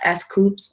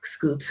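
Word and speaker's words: S.Coups: Scoops that's my man I know his it's pronounced SC scops but I say Scoops who's your favorite 17 member is it Vernon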